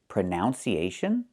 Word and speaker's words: pronunciation: The word is pronounced pronunciation. We see the letter U there between the ends, right? That's a short uh sound like cup and up. Prenun. Prenun. So the two first vowels are the same sound.